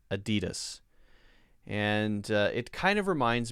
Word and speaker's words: Adidas: JP Dana Book says, how do you pronounce Adidas? I've heard some people say Adidas, but everyone that I've ever heard say it says Adidas.